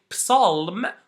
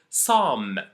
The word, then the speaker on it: psalm: The first one is never pronounce the P when it comes before an S at the beginning of the word. And the second rule is the L rule, if you remember it from the previous section. So we never say psalm, we say psalm. I didn't pronounce the P, I didn't pronounce the L.